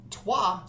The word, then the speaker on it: Troyes: he knows nothing about twah so he'll probably be leaving us in a second there he goes um twah which is spelled t r y s is a worker placement